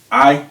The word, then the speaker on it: Ai: I, Yeah, it's pronounced I.